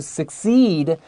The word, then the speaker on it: succeed: is still possible to succeed as a genius the first c is k the second c is s write it down um